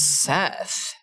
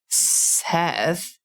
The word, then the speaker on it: Sseth: my god by um the first word is seth seth that's correct that's right i mean you could